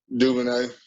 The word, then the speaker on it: DuVernay: The Hollywood Reporter has a 6-episode Netflix series uh, that Ava I can't pronounce her name. DuVernay.